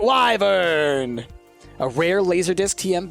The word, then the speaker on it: wyvern: or wither and keep depending on how you pronounce that word but I pronounce it wyvern a rare laser disc